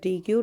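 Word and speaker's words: deque: A double ended क्यू also known as डी Q. Double ended क्यू को हम डी क्यू के नाम से, और जिसे हम प्रोनाउंस करते हैं डैक, तो डी क्यू के नाम से जानते हैं, डैक भी बोलते हैं इसको।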